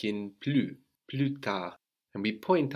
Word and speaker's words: plus: Pluta glue dad so again we don't pronounce that final consonant now we have blues written like plus in English but we pronounce blue Pluta I have to